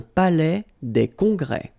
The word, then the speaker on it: palais des congrès: Final S here and here are not pronounced. Un palais des congrès.